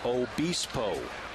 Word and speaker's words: Obispo: Now getting the official pronunciation of number 79. It's Weirfine Obispo.